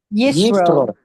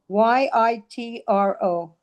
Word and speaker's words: Yitro: Yisro. Yisro. Yitro. Yitro. Okay. Yitro or Yeah. Yisro. It depends how you pronounce it.